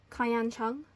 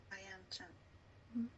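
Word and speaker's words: Kayan Cheung: Kayan Chung. Kayan Chung. So KAYANCHEUNG. Okay. I'm typing your pronunciation.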